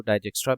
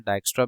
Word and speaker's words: Dijkstra: ठीक है, आप इसको डाइजेक्स्ट्रा भी पढ़ सकते हैं, डाइक्स्ट्रा भी पढ़ सकते हैं, डिफरेंट प्रोनाउंसिएशंस हैं।